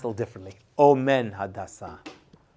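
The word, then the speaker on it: אֹמֵן: one I see the word amen well it's pronounced a little differently Omen Omen right he took care of Hada he took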